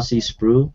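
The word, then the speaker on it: Sproul: it I'd recommend it it's by R spru if I'm pronouncing it right SP p r o u l he's a favorite theologi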